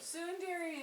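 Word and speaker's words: ツンデレ: She's a Sunder or whatever, where she's like, Yeah, let's talk about Me. Just made Thunder. Sundare. Tsundere. Tsundere. Let's talk about Hey, Google pronounced it that way for me. Tsundere and yandere.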